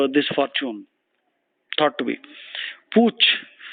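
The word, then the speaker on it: putsch: Fortune thought to be Pooch p-u-t-sch the pronunciation is Pooch usually political uh something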